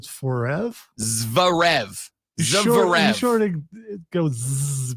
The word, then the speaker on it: Zverev: It's a Z and a V next to each other.